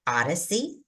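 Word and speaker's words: ODDACE: opportunity um is the Cooperative agreement we call Odyssey and that's spelled o d d a c e which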